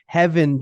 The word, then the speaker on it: Hefin: Yes, it's spelled with an F, but it's pronounced with a soft V sound. It's Hefin Jones, and he's here to talk about text types with us.